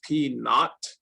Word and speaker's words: p naught: this little circle here this is actually pronounced in the math world we call this p naught and honestly i don't